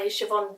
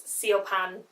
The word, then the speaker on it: Siobhan: This is a book that was started by Siobhan Dowd. So thank you whoever told me how to pronounce this, because Siobhan and Siobhan are quite different.